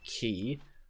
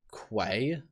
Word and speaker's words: Quay: So we're going to go back to the Bowerstone Key. I always thought it was Quay. I mean, that's how it's spelled. But apparently not.